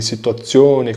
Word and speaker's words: situazione: O Z, no caso ali, situazione, condizione, tem som de TZI. Por exemplo, o Z tem som de TZI, T. Então, situazione, TZI.